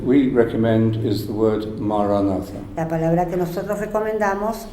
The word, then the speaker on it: maranatha: La decimos silenciosamente en el interior, Say it as 4 syllables, ma, ra, na, tha.